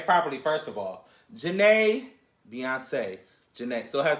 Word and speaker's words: Jhené: Janae, Beyonce, Janae.